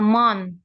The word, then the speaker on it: month: Mother and father shopping once a month. a month. A month. A month. O-nya itu bacanya A ya. Soundingnya A. A A month.